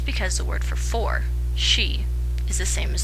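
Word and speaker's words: し: the word for for she is the same as the word for death 9 pronounced ku can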